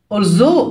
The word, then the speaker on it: although: بالرغم من although جي والاتش سايلنت، مدونة blog.